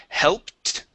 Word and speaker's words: helped: go to the word helped okay practicing that L right before the P hell helped helped okay one more time hell helped helped mhm very good uh let's